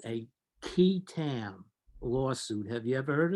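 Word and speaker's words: qui tam: the false claims Act is something called a ketam lawsuit have you ever heard of this I'm not most people have not it's spelled q-u-i-t-a-m you actually goes back to English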